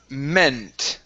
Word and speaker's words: meant: Okay, next up is the word meant right here instead of meant. Okay, that's a short E sound.